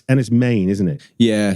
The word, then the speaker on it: Enys Men: Yeah, so it's as if it's spelled M-A-N-E. Yeah. So it comes from the Cornish word menhir, which means standing stone or long stone. And main being the first syllable meaning stone.